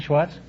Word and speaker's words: Schwartz: Is that how you pronounce it, Schwartz?